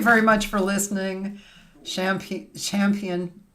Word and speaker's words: Champian: Champ Champion.